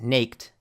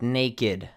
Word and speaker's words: naked: So naked is not pronounced naked but naked mean which means not having clothes.